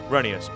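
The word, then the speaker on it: Rheneas: uh what about reneus it's pronounced reneus Boko oh potato potato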